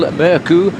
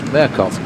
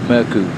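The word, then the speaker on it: Mørkøv: now on as michael murku because the danish television's informed us they don't pronounce the v on his name which is murkoff so from now on it's merku well the fact that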